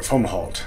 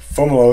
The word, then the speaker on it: Fomalhaut: it as a child i called it fomholt which isn't even correct for how it's spelled in english so fomolo is correct it's a brightest star